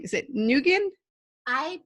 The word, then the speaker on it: Nguyen: how you pronounce your last name is it negan I pronounced it new n nuytten people pronounce it now win which is the proper way but I just